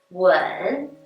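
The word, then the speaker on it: 吻: Например, «вэн» – это спрашивать, «вэн» – целовать, «чу-ти» – это тема, а «чу-ти» – уже свиные ножки.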